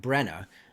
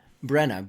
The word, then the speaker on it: Brena: She speaks up and I've been saying it wrong. Brena. Brena. B R E N A. Brena.